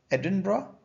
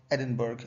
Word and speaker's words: Edinburgh: I have been told that it is pronounced Edinburgh, not Edinburgh, as I was saying in the previous videos.